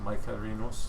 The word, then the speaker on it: Mycerinus: Yeah, well, it's a Latin pronunciation, so it's Mycerinus, Mike Carinos.